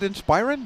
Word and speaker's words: Inspiron: end alienware line and the inspiron is an inspiron that's how you say it yeah of course